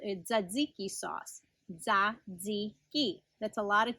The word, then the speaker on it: tzatziki: that you might have heard of called a tzatziki sauce that's a lot of teas and z's hard to pronounce for most people but that's how you